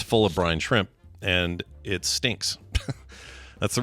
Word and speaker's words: brine shrimp: right let's talk about brine shrimp becoming Utah's official state crustacean yeah please make sure you keep pronouncing it brine shrimp not Brian shrimp yeah not Brian shrimp